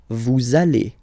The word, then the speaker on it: vous allez: Same thing here. We'll have this little link between the two. Vous allez.